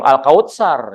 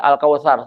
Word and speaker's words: Al-Kautsar: Al-Kautsar pakai sa. Pakai sa Al-Kautsar. Entong Al-Kautsar ya. Walaupun Al-Kautsar mah berarti maca tina laten ari gitu mah. Al-Kautsar, bacanya Al-Kautsar, sa.